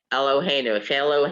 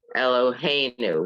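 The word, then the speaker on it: אלהינו: There it is, Eloheinu rather than Eloheinu. Normally, it would be at the end. The accent is on the last one because it's not. It's on the next to the last.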